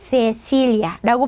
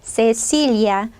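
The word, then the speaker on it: Cecilia: 자, 제 이름은 스페인어로, 자, 스페인 사람들이 저를 부르면 세실리아라고 발음하겠죠. 중남미 사람이 저를 부르면 세실리아.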